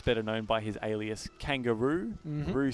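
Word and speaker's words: Kangaroux: previous round perhaps better known by his Alias kangaroo Peru spelled with a the the method we're spelling r-o-u-x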